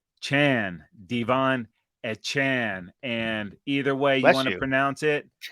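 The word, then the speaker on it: Achane: But he let us know that it's uh, Chan, Devon Chan.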